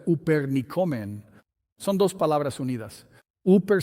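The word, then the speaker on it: ὑπερνικῶμεν: Él usa esta palabra griega que se pronuncia upernicomen.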